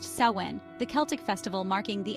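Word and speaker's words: Samhain: these were Central to samhan pronounced saen the Celtic Festival marking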